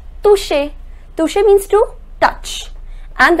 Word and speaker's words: toucher: Remember I told you the pronunciation of CH is sh, so it becomes toucher.